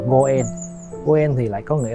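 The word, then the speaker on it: 五円: Tại vì 5 yên trong tiếng Nhật đọc là Goen.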